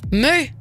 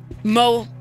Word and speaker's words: MØ: close any close yeah so the Danish is me but no one can say it like outside of Denmark so don't worry like I I mean you know I chose a crazy name so mo is great mu I should said